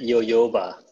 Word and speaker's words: jojoba: It's jo, right? Is it ho? Oh, is it yo-yoba? Yo-yoba.